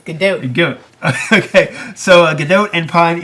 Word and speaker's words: Gadot: I was talking to someone about it the other day, and someone said Gadot, and I said, no, it's Gadot. It's Gadot.